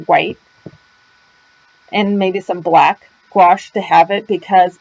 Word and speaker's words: gouache: other types of watercolor gouache is also spelled g-o-u-a-c-h-e um but i pronounce it watch others may pronounce it differently um but this is